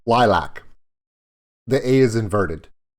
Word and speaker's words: LYLVC: up their website and they literally say uh pronounced lilac like they literally in like the first sentence